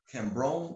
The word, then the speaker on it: Kambon: Kobi Kambon, I'm sorry, pronounce my last name. Kambon. Kambon. Yeah. Dr. Kobi Kambon. This is a school in honor of Dr. Kobi Kambon. Kambon. No R, yeah.